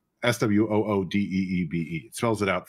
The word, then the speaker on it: SWUDB: as a card database or whatever, it says SWOODEEBE. It spells it out phonetically.